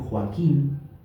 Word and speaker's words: Joaquín: Por ejemplo, en Joaquín, esto es gramatical, luego Ignacio va a explicar el verso. Joaquín son tres sílabas.